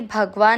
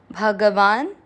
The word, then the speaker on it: भगवान: भग वा के साथ आधा न, ये भगवान नहीं है, भगवान है। भगवान।